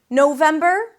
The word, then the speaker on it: November: November, 3 syllables as well. Same ending, ber. Here we start with no. No, as in I said no. Then them, that's the primary stress.